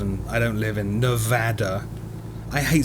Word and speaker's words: Nevada: There is actually a YouTube video from I think it was NBC News all about the correct pron correct pronunciation and it really is apparently Nevada.